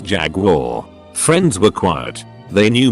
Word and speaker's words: Jaguar: When we were talking cars and I pronounced the make Jaguar, Doucher bag on the next stool takes the time to lean over and say it's pronounced Jaguar.